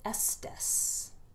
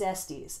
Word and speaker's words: Estes: This is Fire Country by David Estes, or Estes, depending on if you want to pronounce it correctly or incorrectly. I think it's Estes, and I met David